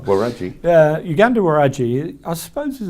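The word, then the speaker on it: Waragi: Yeah, so I think the pronunciation is Waraji, but I might be wrong. Waraji.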